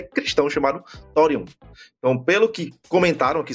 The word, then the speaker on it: Thorium: E lá uma coisa ganhou Seola Fortes, que inclusive é um mangá que é cristão chamado Torion.